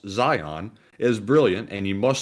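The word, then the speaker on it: Zeihan: says in all seriousness zehan pronounced zion is brilliant and you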